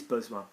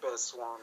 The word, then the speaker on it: besoin: have to, just use besoin. Okay, so they needed to sit down. Ils avaient besoin de s'asseoir. Ils have was verb. Ils. Oh, ils avaient besoin de Good s'asseoir. pronunciation of besoin is wrong.